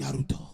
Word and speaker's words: Naruto: Sasuke's voice actor was the only person who pronounced it right. Naruto.